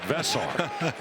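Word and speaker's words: Veesaar: Lot of conversation about Henry Vessar and how you pronounce it. Not Henry, but Vesar.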